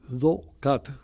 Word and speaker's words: Docat: se llaman Doc, eh, Docat, o sea, eh la primera sílaba de de documento y las tres primeras palabras letras, perdón, de católico, do cat.